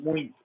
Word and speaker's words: muito: Tem ocasiões em que muito é um ditongo, não é um hiato, porque as duas vogais estão na mesma sílaba.